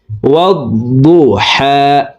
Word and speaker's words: والضحى: এখানে দেখুন হার উপরে খাড়া জবর আছে, উপরের দিকে ধাবিত করে এই হা হরফকে এক আলিফ টেনে পড়ব। তো দেখুন শব্দটি এভাবে পড়তে হবে, والضحى والضحى والضحى والضحى والليل